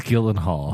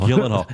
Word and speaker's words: Gyllenhaal: How do you pronounce his last name? Gyllenhaal. It's Gyllenhaal. Gyllenhaal.